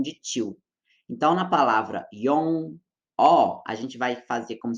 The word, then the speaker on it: 영어: Eu vou usar aqui como exemplo a palavra yong-o, yong-o, yong-o, para poder ilustrar essa situação, tá? Porque nela a gente tem o batim ian na primeira sílaba e depois vem uma vogal que é o o, né? Então a gente tem aí esse contexto de confusão. É muito comum os estudantes no começo falarem yongó, yongó, como se estivesse colocando